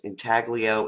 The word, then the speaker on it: intaglio: it's a thali oh it's in how that's pronounced intaglio is antonio printmaking process notice how linear it